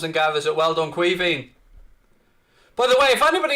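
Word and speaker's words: Caoimhín: it's kevin it's kevin it's the irish way of saying kevin but it's pronounced cuiving fabinho across left-hand side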